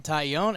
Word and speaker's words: Taillon: pretty cool I appreciate we actually went phonetically were like tight oh yeah that's like a tie-in you own it old